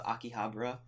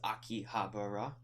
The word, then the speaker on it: Akihabara: day we went to akih Habra which is U which is actually how we pronounce it it's Akihabara well if anything it would be akih because ra is like ra but anyway so um